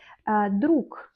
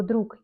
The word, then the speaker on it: друг: Друг, on écrit друг, mais on lit comme друг.